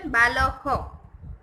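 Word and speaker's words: बालः: बाल डॉट है ना, तो विसर्ग, तो उसको रीड कैसे करेंगे? उसका प्रोनाउंसिएशन बालह, बालाहा.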